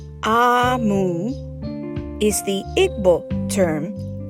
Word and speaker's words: Omu: note to the reader a Moo pronounced ah mu is the eighth book